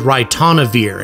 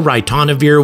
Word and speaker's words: ritonavir: orbit by the way well a drug called ritonavir and I think think I pronounced that right at least the computer told